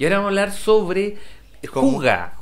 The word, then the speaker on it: hygge: primero quiero decirle que mucha gente cree que se dice jigue. Porque esto se deletrea H-Y-G-G-E, ¿ya? Y es una palabra danesa, y la gente cree que es jigue, pero se pronuncia juga.